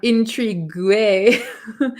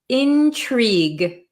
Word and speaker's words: intrigue: it looks like um Intrigue it looks kind of funny at the end with the gue but we pronounce it intrigue intrigue we don't pronounce this U or E really Intrigue okay Intrigue so